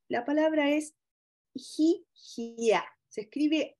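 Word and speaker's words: hihia: definición de los afectos y la palabra es gigia se escribe h i h i a esa palabra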